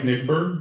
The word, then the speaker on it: Nigbur: Been to city council meetings, and Mike Nigbur, that's how you pronounce it.